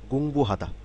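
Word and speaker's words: 공부하다: স্টাইট অর্থাৎ পড়াশোনা করা খেয়াল করুন গঙ্গুহাদা এক দুই তিন এবং এটি একটি চারটি সিলেবেল নিয়ে তৈরি হয়েছে গঙ্গুহাদা গঙ্গুহাদা শব্দটির অর্থ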